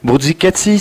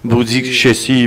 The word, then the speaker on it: Bruzzichessi: Bien, parce qu'on m'a dit, on prononce, peu importe, Bourdzicatsi, mais je le prononcerai plutôt à l'italienne.